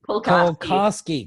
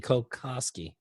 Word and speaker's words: Kulkoski: to pronounce this properly, Kulkoski. So close. Kulkoski. Kulkoski. You got it.